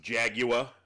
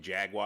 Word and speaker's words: Jaguar: It is not pronounced Jaguar. It's fucking Jaguar.